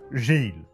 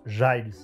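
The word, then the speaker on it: Giles: Scooby Gang Gill rupur Gill ça se prononce jiles ruper c'est l'observateur en charge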